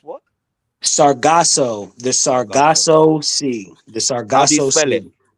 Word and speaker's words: Sargasso: Sargosmus? What? Sargasso, the Sargasso. Sargasso Sea, the How do you Sargasso spell it?